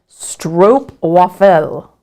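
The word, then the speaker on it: stroopwafel: right Elizabeth has said Stroop waffle pronunciation is stro waffle wow did I get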